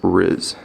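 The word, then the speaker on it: rizz: Now, the first word, riz, is transcribed as this, and it's pronounced riz, most commonly.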